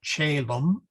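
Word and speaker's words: caelum: So celum, the C becomes soft, and then gemma, as in gem.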